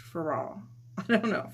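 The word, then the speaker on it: Féraud: I don't think you pronounce the D in French. Farad. I don't know. Farad.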